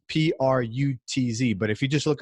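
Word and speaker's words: Prütz: It's spelled Cirkus, Circus in Sweden, Pritz, and it's Prutz.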